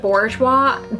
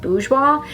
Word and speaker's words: Bourjois: Now I'm gonna use the I still call it Bourjois. That's what everybody, like all the Americans and the British back in the day, called it Bourjois. I think it's actually pronounced Bourjois. It's a French brand, but it is the best.